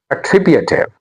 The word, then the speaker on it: attributive: And then we have another word, attributive. Attributive. The stress is on T.